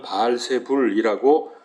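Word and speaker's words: 바알세불: 여기 바알세북이라는 말이 나오는데이 말은 땅의 주인인 바알이라는 뜻입니다. 땅의 주인인 바알. 이게 바알은 잘 아시는 대로 가나안 원주민들이 믿던 농경의 우상신입니다.이 바세부불. 또 어느 때는 발세불이라고 발음하기도 합니다. 그런데 왜 이런 말을 했습니까?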